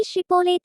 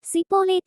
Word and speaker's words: ஷிப்போலேத்: அவன் அல்ல என்றால் ஆறு நீ ஷிப்போலேத் என்று சொல் என்பார்கள் அப்பொழுது அவன் அப்படி ப்படி உச்சரிக்க கூடாமல் சிப்போலேத் என்பான் அப்பொழுது அவனை பிடித்து யோர்தான்